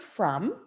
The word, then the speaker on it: from: letter makes uh and they may know that short u says ah but in this case in the word from we spell it with an o and i have to put a heart over the o because that's the one